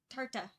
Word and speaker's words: Tartah: So Oh, it's uh tarta, which is the the